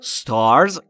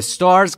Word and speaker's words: stars: The stars came out. THE اشاره میکنه به اون ستاره های مشخص که داره در موردش صحبت میکنه. Stars ستاره ها. تلفظش رو دقت بکنید دوستان. Star نیست. Stars.